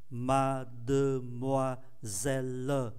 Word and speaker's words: mademoiselle: Nhưng âm tiết ơ sau cùng, ký tự ơ sau cùng không phát âm. Âm tiết có mang ký tự ơ nằm giữa hai âm tiết khác cũng không phát âm. Như vậy là 5 còn 3.